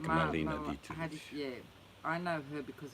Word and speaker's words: Dietrich: Dietrich.